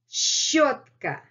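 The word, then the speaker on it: щётка: This is one of the most difficult letters in Russian alphabet to pronounce. Щ, щ, щ, щ, щ. And then letter Ё. Altogether, it's kind of not easy to pronounce the word.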